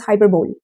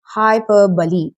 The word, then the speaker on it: hyperbole: It is most oftenly mispronounced as hyperbole, but no. The correct pronunciation of this word is hyperbole.